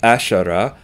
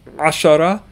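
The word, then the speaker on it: عشرة: Our word is ashara, so not ashara, but ashara. Learn to pronounce it that way.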